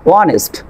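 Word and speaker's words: honest: তারপর খেয়াল করেন এইস সাইলেন্ট লেটার এইস এর পরে ও বা ডাব্লিউ এর পরে এইস থাকলে আপনার এইস লেটারটি সাইলেন্ট থাকবে। এখানে খেয়াল করেন অনেস্ট, অনার, আওয়ার, প্রতিটি আপনার ওয়ার্ডের ভিতরে এইস এর পরে ও আছে।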